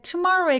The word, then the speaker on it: tomorrow: 키워드는 where가 아니라 근데 tomorrow의 강세는 투모로가 아니라 tomorrow tomorrow tomorrow 높이 올라가면 안 돼요 tomorrow tomorrow 그래서 앞으로